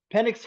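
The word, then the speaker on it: Penix: I think that um Pennix let's let's pronounce his name right. Pennix.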